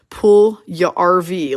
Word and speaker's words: Puljujarvi: Oh yeah, don't forget Jesse Puljujarvi, whose name we couldn't say for the longest time until someone finally said Puljujarvi, like your recreational vehicle.